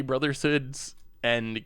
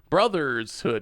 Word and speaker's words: Brotherhood's End: I tend to slip up trying to say Brotherhood's end correctly. Brothershood. Yeah, I always put the S in there, right? Brothershood. I say Brother's Hood end instead of Brotherhood's end.